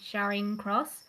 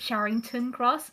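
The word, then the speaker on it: Charing Cross: the time such as there's this like the um Station in London called sharing cross I always call it sharington cross and they always say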